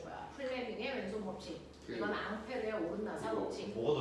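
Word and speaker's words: Ampère: 앙페르의 오음나사 앙페르 굉장히 어느 나 프랑스 프랑스페앙 같은 거 들어이 앙페르라는 사람을 우리는 암페어라고 읽고 있죠.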